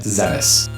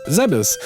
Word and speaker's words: Zebes: Defeat the Metroid of the planet Zebes and destroy the Mother Brain, the mechanical life vein, Galaxy Federal Police, M510. Now, you may notice that I pronounced Zebeth as Zebes, and the reason why is because Zebeth is